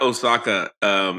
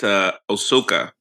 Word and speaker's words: Ahsoka: We've been mispronouncing it. What? Yeah, it's not Osaka. It's Ahsoka.